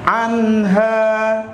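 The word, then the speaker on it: عنها: La yusaddauna anha. Ingat lafaz anha, nun mati ketemu ha, bacaan idhar.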